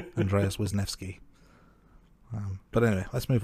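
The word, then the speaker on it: Wisniewski: explaining that to listeners I I Googled the pronunciation and apparently it's wisneski wisneski there we go close thank you Andy I'm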